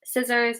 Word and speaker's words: scissors: So for some words, if the C comes after the S, so SC, then the C is silent. Scissors, muscle, scene.